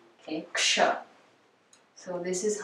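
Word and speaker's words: क्ष: So it's X, like action, okay, ksh. So it's a combination of k and sh, as we can hear when we pronounce it.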